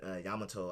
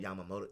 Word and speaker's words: Yamamoto: things like that and then in Bleach captain Yamato I believe is his name I might pronounce a Emoto Yamamoto there you go he's so powerful that he